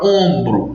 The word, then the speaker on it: ombro: é fonemas é porque essa letra M que nós escrevemos na palavra ombro não está presente quando nós pronunciamos a palavra ombro a gente vai entender que esse o apenas se tornou uma vogal nasal a letra M não foi pronunciada com acontecer e por